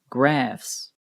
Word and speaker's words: graphs: it is laughs graphs the pH here also sounds like an F graphs these words end in